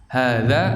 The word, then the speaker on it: هذا: Itu cara bacanya ha nya panjang. Haza, gitu. Tapi di situ kan tulisannya kan langsung disambung ke huruf zal nya, cuma ada tanda harakat berdiri kan, alif berdiri kan. Dibaca panjang, haza.